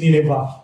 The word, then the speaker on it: Nineveh: At ang wall po ng Nineveh, actually, sinasabi nila, ang pronunciation daw yan is Nineveh.